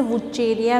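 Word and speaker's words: Vaucheria: वो उसे कहते हैं वाउचीरिया। इसे वुचेरिया भी कहते हैं, ये प्रोनाउंसिएशन पे डिपेंड करता है। तो मैं जैसे कि प्रोनाउंसिएशन वाउचीरिया बोल रही हूँ इसको, तो ये ज़ैंथोफाइसी के अंतर्गत रखा गया है।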